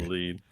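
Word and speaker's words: Elfen Lied: Lead. It's a messed up show. Elfin lied, it looks like. Elfin lied, you mean? It's pronounced lead, but yes.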